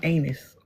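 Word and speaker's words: Aenys: I think he be I keep I think he keeps saying anus. Okay. Cuz it sounds like anus and some people do pronounce it like that.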